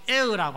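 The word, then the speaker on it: heir: 여러분, 이 상속자 영어로는 H-E-I-R, air라고 합니다. 공중에 이 공기도 air라고 하는데 발음이 똑같습니다.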